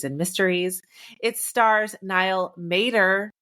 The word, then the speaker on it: Matter: Mysteries it stars Nile Mater even though his last name looks like matter but it's not it's Mater like the truck I've beening wrong for